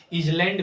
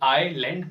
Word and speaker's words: आइलैंड: इसे कुछ लोग इजलैंड भी पढ़ते हैं जो बिल्कुल गलत है। इसे इजलैंड नहीं, आइसलैंड नहीं इसे इजलैंड भी नहीं पढ़ेंगे और इसे आइसलैंड भी नहीं पढ़ेंगे। इसको आइलैंड पढ़ेंगे।